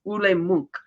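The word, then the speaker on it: Ole Munch: And he does tell her how his name is pronounced. It's Ule Munk.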